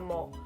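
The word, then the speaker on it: mohel: This procedure is performed by a specially trained person called a mole, which is spelled M-O-H-E-L, not M-O-L-E.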